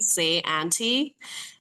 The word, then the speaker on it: Syante: Um it's s a y a u n t y like phonetically how you would spell say my name. Say auntie.